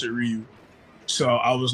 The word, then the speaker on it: Ryu: say the English subtitle version of it they pronounce it Ryu so I was like all right if you